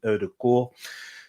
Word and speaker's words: Ødegaard: the way it's actually in norwegian it's pronounced erdogan the double a um pronounces with two old like a o in english type of thing so it's martin erdogan so this is cost arsenal less than 40